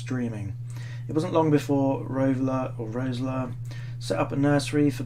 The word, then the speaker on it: Roessler: Roebler, pronounced ROESSLER, quickly became enchanted by the field's tiny spiders.